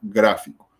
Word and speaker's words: gráfico: Ahora, en el caso en el que estamos viendo esta palabra, el acento va en gra, que sería la antepenúltima sílaba de esta palabra.